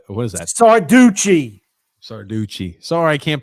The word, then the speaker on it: Sarducci: Guido Circata. What is that? Sarducci. Sorry, I can't pronounce names.